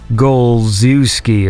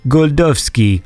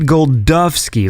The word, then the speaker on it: Golczewski: So to the English eye, it looks like Golczewski or whatever. And he sent me this robot, like a link, a web link to a Polish pronunciation thing. And he said, just put my name into there. So I put it into there, and the robot lady said Wojciech Golczewski, like that. She said Golczewski, like with a D.